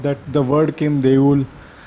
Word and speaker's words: দেউল: Even though actually the word, the way it is spelled, it should be Deula, but in Bengali we don't pronounce it, the last O, many times it is silent, so it will be pronounced as Deul.